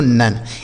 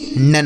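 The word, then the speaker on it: none: एन से दोस्तों न हो गया ओ का उच्चारण अ एन ई से न यह लिखा गया दोस्तों नन एन ओ एन ई नन हो गया ठीक है एल ओ वी ई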